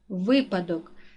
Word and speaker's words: випадок: падає на другий склад випадок наголос падає на перший склад олень наголос падає на